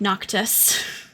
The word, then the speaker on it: Noctis: So it's for Noctis. It's it looks like you're actually spelling knock. So Nock, and then Tuss, Tuss. So it's like Noctis.